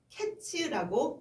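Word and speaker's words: קֵץ: 그런데 종말은 캐츠라고 발음해요.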